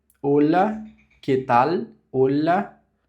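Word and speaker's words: hola: Então, vamos lá, que é o olá, que tal, olá. Então, o H é mudo.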